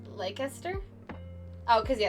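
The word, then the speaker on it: Leicester: dialect is edit God I say it right now like leaster oh cuz yeah it's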